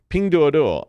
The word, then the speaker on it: Pinduoduo: app Pandora I got to say it correctly ping duodo which is uh they deleted it from the